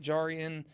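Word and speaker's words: Jarrian: if they have a chance to talk to jar and see him he is an immediate fan favorite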